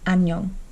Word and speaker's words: 안녕: a good example because if the iung is at the end of the syllable, it's pronounced like an ng, which is how you get an. This doesn't sound like anything. Nyong, 안녕.